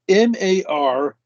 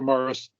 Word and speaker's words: Marist: Oh, excuse me, M-A-R-I-S-T. Marist. So the Marist brothers. Yeah, Marist or Morris. Marist brothers.